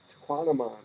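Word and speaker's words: Tahquamenon: It rhymes with phenomenon. Tequanamon.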